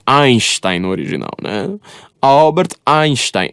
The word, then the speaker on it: Einstein: Que aí ele fala Einstein, ele pronuncia o nosso S, né? Mas é Einstein no original, né?